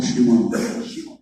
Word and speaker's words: Shimon: Simón o Shimon. Shimón. Eres casi juarense. Shimon. Así pronunciamos aquí en Juárez.